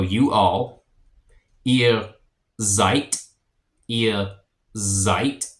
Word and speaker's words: seid: So you all, ihr seid, ihr seid, and a S makes a Z sound at the beginning of a word in German.